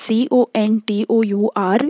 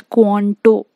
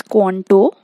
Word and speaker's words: contour: look at the pronunciation of it first it's c-o-n-t-o-u-r you pronounce it as quanto okay it's not contour it's quanto and quantum cultivation is nothing but cultivation along